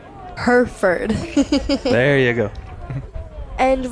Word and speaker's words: Hereford: Hero Ford? Hereford.